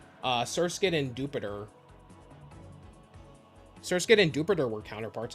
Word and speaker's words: Jupiter: I thought it was Dupiter too, but no, they've said Jupiter in the anime.